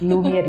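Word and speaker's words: Lumière: It's Lumiere. Yeah, Lumiere is a French word for light.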